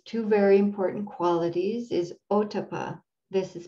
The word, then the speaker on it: ottappa: part of these two very important qualities is otapa this is spelled o t t a p p a